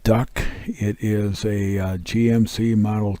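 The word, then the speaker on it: DUKW: through World War II this is correctly a duw it is pronounced duck it is a GMC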